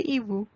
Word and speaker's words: hiboux: And please do not pronounce the X at the end.